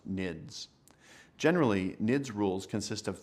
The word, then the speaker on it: NIDS: intrusion detection system is often abbreviated as the acronym NS and pronounced nids generally nids rules consist